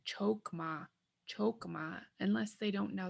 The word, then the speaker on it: chokma: really hear people saying chokma chokma unless they don't know the language so how do you know it's supposed to sound like a u chokma here's another example tali